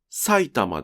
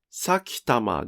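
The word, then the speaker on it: 埼玉: でも、この単語の発音は埼玉です。さきたまではありません。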